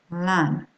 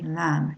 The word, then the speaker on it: lamb: Lamb. You don't hear the B, okay? Lamb. You hear the M at the end.